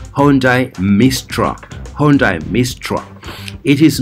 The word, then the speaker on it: Hyundai: you this wonderful korean vehicle this is hyundai hyundai yes for you who do not know how to pronounce this of course the logo looks very